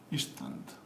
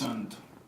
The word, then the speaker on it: instant: Instant. What is the difference? Schwa. Okay, why? Well, because this is one syllable and two syllable. And when you have in two syllable, what happens? It's schwa is in the second one.